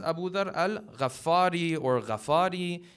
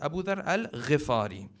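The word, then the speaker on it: Abu Dharr al-Ghifari: many times people will pronounce the name as abu dharr al rafari the correct pronunciation is abu dharr al-rifari because his tribe was the tribe of the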